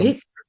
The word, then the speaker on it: एभिः: what I'm expecting over there is bha is a mahaprana, choti iki matra, bhi, and visarga sa because next word is sarva. So Yeah. bhis. I want the pronunciation bhis.